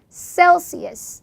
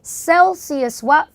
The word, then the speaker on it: Celsius: 이때 이 C 발음은 더블 S 발음이죠. shell 아니고 cell. 써 할 때 그 S. Celsius.